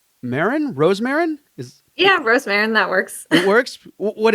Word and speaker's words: Rosemarin: And today with me, I have Rosemarin. Rosemarin? Yeah, Rosemarin, that works. It works? What is it? How do you pronounce it? Rosemarin.